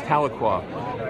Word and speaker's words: Tahlequah: Actually, Tahlequah. I used to call it Tahlequah. Excuse me, folks. It's Tahlequah. And I do apologize because it's spelled Tahlequah, Tahlequah, Oklahoma.